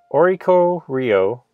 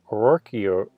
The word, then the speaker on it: Oricorio: Moving on, we have the uncommons, and then we have our boy Oricorio, or I said it right the first time. Oricorio, anyway.